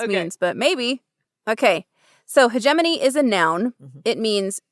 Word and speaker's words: hegemony: Hegemony? Yep. Love it. Hegemony.